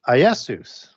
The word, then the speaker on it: Iesus: So the Greek word that's used in the New Testament for Jesus is Iesus. And it's with an I, but pronounced with a Y.